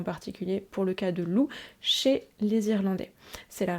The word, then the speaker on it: Lugh: loups donc du dieu loup qui s'écrit effectivement l u GH mais ça ne se prononce pas loug ça se prononce bien loup d'ailleurs à ce sujet